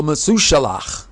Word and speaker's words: Methuselah: These great people included Hanoch, or as the English is Enoch, but the proper pronunciation is Hanoch. Also Methuselah, Shem, and Ever.